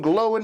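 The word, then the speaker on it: Glóin: Oin and Glowing. Or I think the proper way to say Oin and Glowing is Owen and Glowin'. That's right. That's the proper way to say it. Owen and Glowin'.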